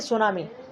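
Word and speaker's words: tsunami: तो seismic wave से आती है सुनामी, जैसे टी सुनामी लिखा, जापानी शब्द इसलिए इसमें आगे टी लिखा हुआ है, ठीक है। तो सुनामी, इसमें टी साइलेंट है, ओके, जापानी वर्ड है।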